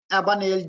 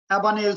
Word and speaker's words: Abagnale: Catch me if you can, the Frank Abagnale. G is silent, Sakan. Don't read G. Abagnale story.